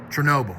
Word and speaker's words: Chernobyl: in Russia the nuclear waste uh disaster there Chernobyl that's how you say it it wasn't like